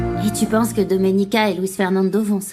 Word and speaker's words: Doménica: Tu as du mal à prononcer mon prénom. C'est Doménica. Non, Dominica, arrête de l'énerver davantage, tu vas Je vais découvrir ce qui s'est passé avec ce titre.